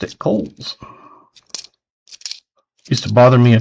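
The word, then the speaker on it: Cowls: If you say it without the W, you would be right. And if you say cowies, you're wrong.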